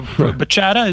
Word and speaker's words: bachata: doesn't have a b it's a b but it's pronounced somewhat like a p if if I was